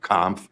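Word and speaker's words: Kampf: Senators for the opportunity my name is comp Nye County Clerk that's spelled k-a-m-p-f I'm uh testifying in opposition to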